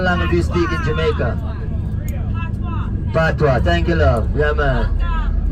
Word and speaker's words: Patois: Patois. Yeah, man. It's spelled like a French word, P-A-T-I-O-U-S, but we still spell it in Patois.